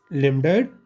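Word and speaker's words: lambdoid: इसमें भी साइलेंट होता है, लेमडाइट स्विचर।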